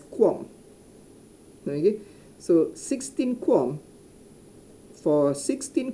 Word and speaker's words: QAM: quart okay qam uh we normally uh pronounce it as quan so 16 com for